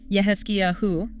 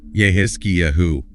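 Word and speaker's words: יחזקיהו: It's pronounced Yehezkiyahu in Hebrew. Yehezkiyahu.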